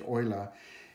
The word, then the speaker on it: Euler: years ago by a man called Leonard not Lula but it's actually pronounced Euler we have to understand a thing he see